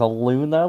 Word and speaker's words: Luna: My name is Luna, like the moon. It rhymes.